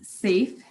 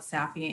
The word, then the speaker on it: SAPHE: So before I talk about, and it's safe, we want everyone to be safe in public health. So it is SAPHE for the acronym, but SAFE is how it is pronounced, the SAFE Act.